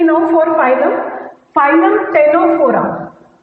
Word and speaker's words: Ctenophora: Now next phylum, phylum, always I will write P now for phylum, phylum Ctenophora, Ctenophora, C is silent here, Ctenophora।